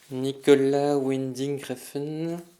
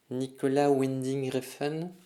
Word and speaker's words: Nicolas Winding Refn: Tous les mois dans Pas encore vu, découvrez le nom d'un réalisateur bien compliqué à prononcer. Nicolas Winding Refn. Nicolas Winding Refn.